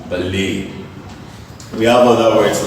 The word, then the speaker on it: ballet: Alright, a word like BALLET is a word of French origin. As a result, ET is pronounced as A. This word is pronounced as ballet.